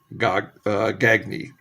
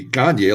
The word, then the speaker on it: Gagne: And the final card in the first segment is a shortstop for the Minnesota Twins, Greg Gagne is how they pronounce it. I know it should be Gagne, like Eric Gagne, but it wasn't.